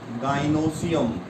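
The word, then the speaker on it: gynoecium: What is pronunciation? Gynosium.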